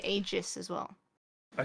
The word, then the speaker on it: Aegis: But so Valve have settled on Aegis, Yeah. but that's the wrong way of saying it. It's like Aegis is apparently the actual correct way, I think, of pronouncing it.